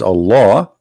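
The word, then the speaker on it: الله: says al hamdu lillahi laughs the first one pronounced as a law the second one it says Lee laughs okay so what we have now let us make it simple here we have all law in the first verse and in the second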